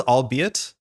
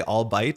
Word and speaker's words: albeit: Hey Benjen, mine was albeit. I used to say all bite until my wife looked at me and I was nuts.